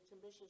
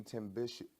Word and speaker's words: Timbisha: So how many Timbishu? Am I pronouncing that correctly? Yeah. Timbishu. How Timbisha.